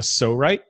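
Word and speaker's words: Psorite: mold that I discovered it's called a so right it's spelled PS o RI T E so what this does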